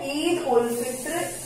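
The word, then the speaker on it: عيد الفطر: ईद उल फित्र is celebrated, this is called celebrated. ईद उल, इसको पढ़ेंगे हम उल. क्या पढ़ेंगे? उल. ईद उल फित्र, this is pronounced as फित्र.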